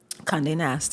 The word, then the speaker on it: Condé Nast: Madewell, Racked, Hearst, then on to, if I'm pronouncing it correctly, correct me if I'm wrong, Condé Nast? Condé Nast, yeah.